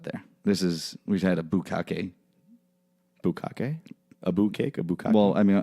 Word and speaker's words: bukkake: Bukkake? A bukkake? Well, I mean, I'm pronouncing it like the people who created it would.